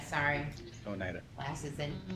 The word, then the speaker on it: Oneida: Oneida, sorry. Oneida. Glasses and mispronunciation.